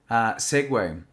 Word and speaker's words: segue: Right, the next one is segue. And when we say segue, the pronunciation is exactly the same as, that two-wheeled little electric thing that you see people driving around in.